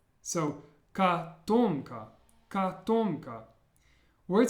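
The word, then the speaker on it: котомка: Well, this word would be pronounced katomka. Katomka. And notice how the first O is pronounced more like an A sound.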